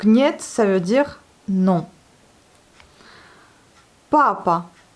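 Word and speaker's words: папа: Papa. Vous voyez, c'est accentué sur la première syllabe. Donc papa. Non pas papa, comme en français, mais papa. Eh bien, en français, c'est papa.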